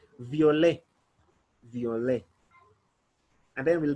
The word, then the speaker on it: violet: in french we'll say violet will not pronounce the last letter t it is silent most of the words in french the last letter it is normally silent so we'll say violet the only and then